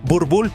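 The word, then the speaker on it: Boerboel: El Boer Boel, pronunciado burbull, este perro fue criado no para parecer intimidante, sino para hacerlo y no decepciona.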